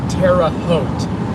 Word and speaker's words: Terre Haute: It is Terre Haute, Indiana.